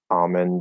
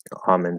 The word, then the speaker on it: almond: to pronounce the l the silent l in like almond and salmon i would assume not in words like wok because that's extremely strange but in some words almond salmon they're saying almond and salmon and whatever